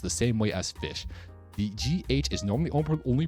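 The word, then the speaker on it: Ghoti: pronunciation is it's called goatee this isn't actually pronounced goatee though this is this is fish this is fish this is how you pronounce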